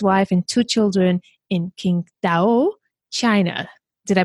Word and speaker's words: Qingdao: And he lives with his wife and two children in Qingdao, China. Did I pronounce it well? Close enough. Yeah, you're Tell close me, enough. how do I pronounce that? It's Qingdao. Qingdao.